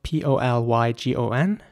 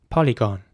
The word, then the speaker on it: polygon: is spelled p-o-l-y-g-o-n and in British English this would be pronounced polygon polygon and in American English it would be more like polygon and again I want to emphasize the o sound at the end here polygon with the on sound and polygon with